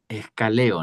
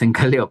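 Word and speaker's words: ἐγκαλέω: Ah, bueno, sí, si nada más lo viera así, se diría escaleo, ¿no? Pero ya había lado que es encaleo, pero yo lo hubiera pronunciado así, escaleo.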